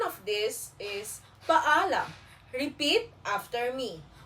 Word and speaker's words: paalam: again walang anuman great now let us learn how to say goodby paalam it means goodby the pronunciation of this is paalam repeat after me paalam again paalam very good in polite version paalam p me paalam po.